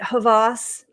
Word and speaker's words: Havas: feel like I've pronounced is it Havas you got it you're you're pronouncing everything perfectly I'm impressed because I thought I accidentally said Hamas and that's not it that is correct that is not not it it is Hava so Anam welcome I'm